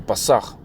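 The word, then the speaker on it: פֶּסַח: Pronounced in Hebrew, in the ancient Hebrew, so to speak, the Pasach.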